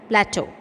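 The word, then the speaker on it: plateaux: something very different because in pronunciation plateau the x is silent so it is pronounced as plateau so our country has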